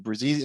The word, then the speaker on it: Bruzzese: Bruzzese. So if you Bruzzese. punch me, I bruise easy.